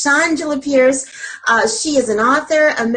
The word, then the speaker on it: Shawngela: So it's Shawngela Pierce.